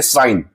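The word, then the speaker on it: sign: अगर जी के बाद एन आए अगर जी के बाद एन जी के बाद जी के बाद जी के बाद अगर एन आए तो वहां हम लोग जी को साइलेंट मानते हैं। वहां हम लोग जी को साइलेंट मींस उसे नहीं पढ़ा जाता है। जैसे हम लोग देखेंगे साइन जैसे हम लोग देख सकते हैं साइन।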